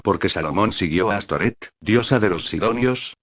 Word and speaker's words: Astoret: la prostitución, por eso se cree que el nombre Astoret es una forma hebrea del nombre Astarte, pronunciado por los judíos con las vocales de la palabra Boset, es decir, vergüenza.